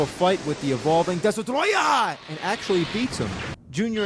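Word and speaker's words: Destoroyah: all merge into one the name of the monster surprisingly isn't destroyer it's desotroya yeah that's the official name it's spelled just like that maybe because they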